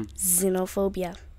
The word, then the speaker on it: xenophobia: The X is pronounced as Z. Mm-hmm. Xenophobia.